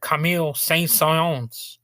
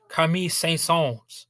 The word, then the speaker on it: Camille: actually cashed in on Camille saon there I pronounced it wrong it's uh I really don't speak French Kami there we go that's a little bit more accurate to the YouTube video